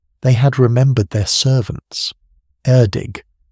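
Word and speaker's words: Erddig: They had remembered their servants, Erdig, pronounced for those of you wondering something like Erig.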